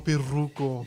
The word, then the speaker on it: Pirruco: And whoever is reading this, super chats, roll your R, fool. Shout out to Oregon. That's what's up. Yeah. Respect. All love. No disrespect. Tell me Viva la Raza. Okay, Don Pirruco.